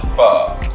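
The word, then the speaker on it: phở: Pho, or is it pronounced pho? What's right? Well, for where I'm coming from, you know, in between the Southeast Asia, Vietnamese called pho.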